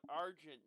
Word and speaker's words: Argent: tore Wing okay I don't know how I pronounce that no Argent Argent oh Argent Argent Wing yeah Argent Wing